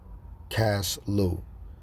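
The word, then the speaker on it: Casleu: Now the 15th day of the month of Celsius, well, we about to get the pronunciation correctly of this word, Salaki. Caslu. Now the 15th day of the month Caslu, in the 145th year, they set up the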